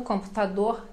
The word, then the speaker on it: computador: No computador, então R final de palavra também bem suave, pronunciado, mas bem suave.